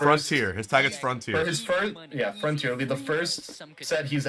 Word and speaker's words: Frontier: If they put Frontier on stream first, it'll be the first. Frontier. His tag is Frontier. Frontier.